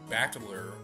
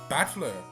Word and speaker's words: Battler: is my given name this part is made up of the characters for fight and person and it's pronounced bachelor put it all together and